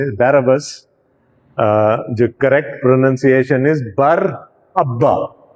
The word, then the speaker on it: Barabbas: ہم اس کو برابا کہہ دیتے ہیں. The correct pronunciation is Barabbas.